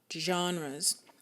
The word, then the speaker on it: genres: this term called genres even though it's spelled with a G it's JA genres and these are the